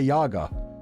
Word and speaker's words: Yaga: video to teach me how to say Baba Yaga just don't listen to them it's Yaga I